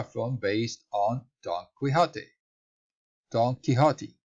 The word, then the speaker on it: Don Quixote: Don Quixote, right? That's the right pronunciation.